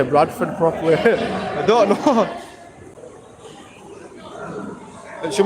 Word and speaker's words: Bradford: I'm going to say Bradford. Oh, no. It's Brad Ford. If anything here, it's Brad Ford. The real pronunciation of it.